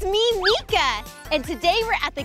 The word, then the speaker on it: Meekah: you spell my name with me awesome let's spell it in the pool okay ready m-e-e-k-a-h mika well thank you so much for having a